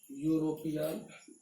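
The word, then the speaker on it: European: अब देखिए ई वाले को हम लेंगे, दोनों तरफ यहाँ पर कॉन्सोनेंट साउंड है, इसको आप लिख दीजिए यूरोपियन, आप लिखिए यू, ये होता है प्रोनाउंसिएशन यूरोपियन, इस तरह से।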